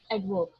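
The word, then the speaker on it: adverb: एडवर्ब, ठीक है, आर is again silent, तो एडवर्ब इसको कहेंगे जो कि आपके वर्ब को क्वालिफाई करे उसको हम बोलते हैं एडवर्ब, ठीक है।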